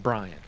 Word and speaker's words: Brian: I just I pronounce it Brian exactly like that.